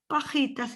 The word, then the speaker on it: pajitas: These cuchillos is pronounced as a Y, cuchillos, pajitas is like a H.